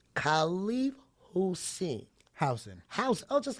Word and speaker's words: Housen: Housen. House. Oh, just like me. Housen.